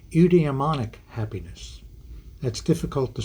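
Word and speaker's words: eudaemonic: happiness and another term that's important is called udemonic Happiness that's difficult to say I'll spell it for you e-u-d-a-e-m-o-n-i-c udemonic happiness meaning and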